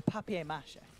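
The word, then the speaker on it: papier-mâché: every time it's usually paper mache it is a papier-mache ah if you want to pronounce it like a true European oh hey there on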